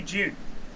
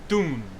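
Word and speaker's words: Dune: as americans say i i say june like it's it's not quite june there's a hint of a d june i don't say doom because that's not how we say it does anyone in this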